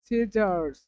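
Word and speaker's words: scissors: এই ওয়ার্ডের উচ্চারণ হচ্ছে সিজারস সিজারস সিজারস এখানে সিজারস যখন উচ্চারিত হয়েছে তখন কিন্তু এই সি এই সি কিন্তু আমাদের উচ্চারিত হয়নি এই সি কি হয়নি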